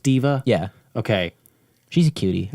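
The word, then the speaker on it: D.Va: like diva diva yep i thought it was dva is it pronounced diva yeah okay she's a cutie i'll stop it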